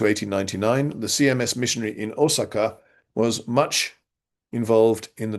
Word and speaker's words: Osaka: Archdeacon Charles Frederick Warren, 1841 to 1899, the CMS missionary in Osaka, was much involved in the translation of the Anglican Book of Common Prayer. I'm pronouncing Osaka in the Japanese way.